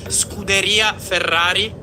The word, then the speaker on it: Scuderia Ferrari: Your pronunciation is is strongly American. It's more Scuderia Ferrari.